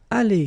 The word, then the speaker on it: allées: So the good news is that phonetically it's aller here, aller, aller, aller. So it's the same. You don't pronounce this final you don't pronounce this final S here.